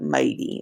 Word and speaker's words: mighty: The T in this is a little d. Sometimes the sounds get a little lazy, but mighty is the word.